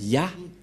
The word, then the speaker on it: Yah: Donc, pour les Juifs, le Dieu juif s'appelle Ya, Yod et He. C'est bien clair. Donc, il n'y a plus rien à contredire. La parole du grand-père Moshe est très claire. Ça se prononce Ya.